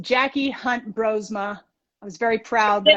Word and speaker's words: Jacky Hunt-Broersma: handle is nc runner jackie her name is pronounced jackie hunt brosma i was very proud that i did that